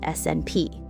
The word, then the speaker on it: SNP: The correct scientific term is a single nucleotide polymorphism, or SNP, pronounced SNP.